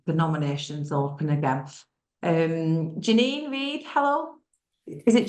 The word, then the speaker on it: Janine Reed: do it when the nominations open again um Janine Reed hello is it J you have said it